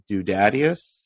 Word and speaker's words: Dudadius: And you released it on Spotify as correct me if I'm mispronouncing this. Dudadius.